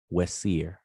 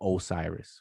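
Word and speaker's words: Wesir: pronouncing it and probably the way you just pronounced it w-e-s-i-r wessier so what's here um or u-seer some people pronounce it or asar or osiris right okay um and that's these two glyphs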